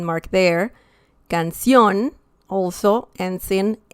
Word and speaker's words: canción: The next one is canción. Canción. Well, technically, that is also like the last syllable, ción. But essentially you're saying canción, okay?